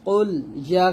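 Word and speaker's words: قل: এখানে কুল বলবেন না, কারণ কফের উচ্চারণ কোনোভাবে কাফের মতো করা যাবে না, বলতে হবে কুল, কুল ইয়া।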